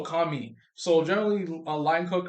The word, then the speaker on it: Commis: So generally, a line cook, also called a kami. Some places, so that's spelled Commis. So kami.